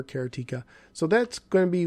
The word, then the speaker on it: Karateka: be chop lifter and let's see if i can say this right this time kerateka i think that's how you say it cariteka i actually looked that up so or karateka or karateka so that's going to